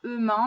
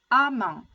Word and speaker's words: amment: Attention à la prononciation, ça ne se prononce pas ement, mais a, amant.